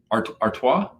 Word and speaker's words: Artois: stella how do you say that last word artois oh good yeah you got it right i